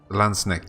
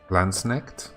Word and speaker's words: Landsknecht: Landsknecht? Oh, it's not knight.